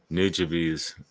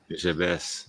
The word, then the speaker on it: Nujabes: Nujabes, we'd pronounce it, I think. Yeah, but Uh, Nujabes.